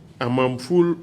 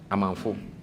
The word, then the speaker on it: Amanfo: Kweku, J-K, Amamful or Awamful or Awamiful? Amanfo. Yeah, Amamfu? Amanfo. You have Amamfu. Yes, because Kweku Amamfu. Amafu, how would you spell it? A-M-A-N-F-O. Amanfu, okay.